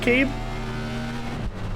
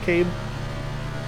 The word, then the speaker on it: Cabe: Is it pronounced Cabe? The C sounds like a K. Cabe.